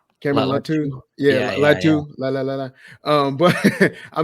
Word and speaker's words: Latu: Latua. Cameron Latu.